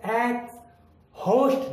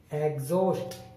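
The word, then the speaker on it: exhaust: ठीक उसी तरह आगे ई एक्स के बाद एच आया है, हम इसको एक्स होस्ट नहीं बोलेंगे, एग्जॉस्ट, ना कि एक्स होस्ट, है नहीं बोलना है एग्जॉस्ट।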